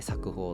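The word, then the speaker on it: 冊封: 冊ですね、冊にこう封印の封、で冊封って読むんですけど、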